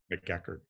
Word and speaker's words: McEachern: but we pronounce it, we bastardize it when we say McEachern. McEachern.